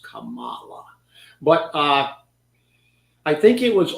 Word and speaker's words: Kamala: That I think that's the way she wants it pronounced, Kamala.